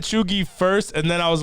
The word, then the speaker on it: cheugy: it's probably neither one of those the actual pronunciation of that one is choogie i said chugi first and then i was like maybe the